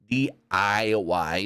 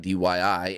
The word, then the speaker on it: DIY: say their name right DIY not DYI anyways not much happens